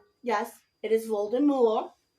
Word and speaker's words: Voldemort: not living so if Voldemort yes it is Voldemort the t is silent it is a French word it means flies from